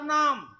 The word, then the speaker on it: নমঃ: কোনটা ধীরে হবে যেমন আমরা নমো নমো বলি নমো নমো নয় কথাটা প্রথমটি হবে নমঃ তারপর হলো নমঃ বিসর্গ আছে কিন্তু ওগুলো উচ্চারণ ভুল বেদম মন্ত্রে তো এইরকম